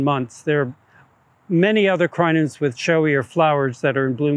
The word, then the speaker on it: Crinum: but the Crinums or Crinum lilies, the scientific name for the genus is Crinum, or a lot of people pronounce it Crinum.